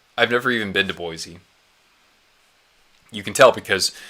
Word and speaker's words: Boise: I would if I lived in Boise, but that's a 7-hour drive, so I've never even been to Boise.